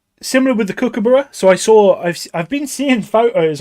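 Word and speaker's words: Kirkcudbright: Because it doesn't read Kookaburra. Like if you read it like as just like an English person read it, it's spelt like Kirk Cudbright. So it's a bit like, okay, the Kirk Cudbright Kookaburra. It's not as good. But I found out when I was there, the place is actually called Kookaburra, but it's just the way it's spelled.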